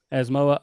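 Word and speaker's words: Asamoah: Asmoa.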